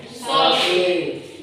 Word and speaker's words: salty: Nah, penulisannya itu salti, bacanya. Solti.